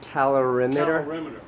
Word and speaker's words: calorimeter: answered all of my stupid questions and it's pronounced calorimeter calorimeter okay got it we needed the resources of the obesity research lab at st.